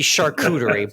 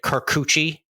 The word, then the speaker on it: charcuterie: you call that fancy Lunchables that would be charcuterie but unfortunately the the jet the Jets linemen pronounced it carcucci and he went super viral for that a